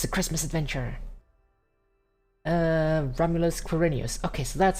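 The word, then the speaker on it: Romulus=Quirinus: Romulus Quirinius. Okay, so that's how it's pronounced, yes.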